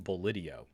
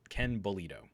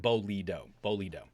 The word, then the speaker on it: Bolido: Ken Bolito? Is that how you pronounce his last name? For some reason, I thought it was Ken Bolidio, but Ken Bolito. Thank you, Zelk Knight. Bolido.